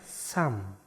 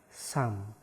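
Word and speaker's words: 삼: Yang ke-9 ada huruf siet, s, a, sa. Ada miem di akhir, berarti dibacanya M. Berarti kata ini dibacanya sam. Dibacanya sam.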